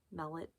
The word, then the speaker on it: Mellett: I think that's how you say his name, Mellett, M-E-L-L-E-T.